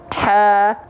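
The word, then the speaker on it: ح: Ada bisik-bisiknya. Nah, itu adalah ha kecil. Dia pasti tepat. Dia pasti akan berbisik nafasnya kalau cara bacanya tepat. Nah, jangan sampai dari tengah tenggorokan banyak orang melafalkannya salah, malah terlalu ke bawah.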